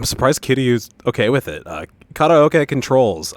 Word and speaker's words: karaoke: Karaoke controls. It's not pronounced karaoke. Don't say it that way. It's stupid. Not to be a weeb about it, but it is very dumb to pronounce this word karaoke.